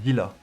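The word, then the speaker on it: Seele: Il la prononce Zilla. Mais je crois que c'est... En gros, c'est comme c'est un nom à consonance allemande.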